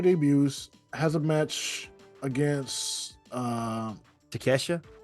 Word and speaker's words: Takeshita: Will Ospreay debuts, has a match against Takeshita. Takeshita. Yeah. It's pronounced Takeshita.